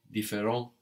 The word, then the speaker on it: différent: No, différent has an S on the end, but we don't hear it. T and S are one consonant syllable, no, and that's silent on the end there. So the singular and the plural sound the same.